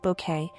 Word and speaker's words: Bucket: Dne Patricia Routoutledge the celebrated British actress most fondly remembered for her iconic portrayal of hyasent bucket pronounced bouquet in the BBC sitcom keeping up appearances has passed away at the age of 96.